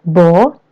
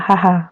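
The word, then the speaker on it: 母: Onyomi-nya bo, kunyomi-nya adalah haha. Onyomi ini adalah cara baca Cina. Kunyomi adalah cara baca Jepang.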